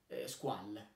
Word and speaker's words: Squale: Essendo un brand nato nella Svizzera francese, il nome si pronuncia Squall. Squall, che andrebbe poi il significato di questa, di questo nome, non è nient'altro che squalo in italiano.